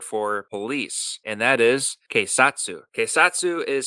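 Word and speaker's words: 警察: the Japanese word for police and that is quatu quatu is spelled ke i s a TSU and quatu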